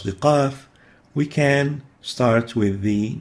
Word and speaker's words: قاف: The last is the letter قاف, قاف, قاف.